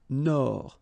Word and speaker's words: Nord: Amérique du Nord, final D not pronounced.